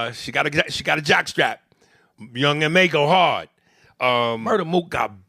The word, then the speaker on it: Young M.A: Young M.A. And for a long time, I thought her name was Young Ma. But I think it's pronounced Young M.A.